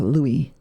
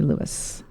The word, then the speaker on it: Louis: uh um leis Armstrong and actually was Lewis he pronounced it Lewis but when he became famous I guess he everyone thought him more like a Louie but it was actually Lewis and he says Lewis